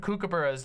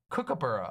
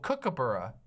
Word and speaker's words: kookaburra: if a bunch of kookaburras land in like a bush near your house, they'll just wake your entire house up. They are kookaburra. Oh, kookaburra. There we go. I pronounced it more correctly, kookaburra.